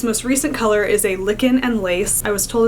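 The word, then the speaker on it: Lichen: colors and this most recent color is a licken and Lace I was told it's pronounced licken and not Len so that's what I'm going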